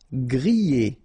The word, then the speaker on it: grillé: Grillé. Okay, at the end you've got this E, and then remember double L after E, y, grillé, grillé.